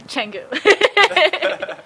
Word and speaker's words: Changu: Oh, Changu. So, I think I was pronouncing it wrong for quite a while.